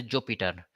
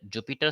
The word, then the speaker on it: Jupyter: language that is a Jupiter. Some uh pronounce uh Jupiter, some pronounce Jupiter. So I'm pronouncing Jupiter notebook in Python ideally.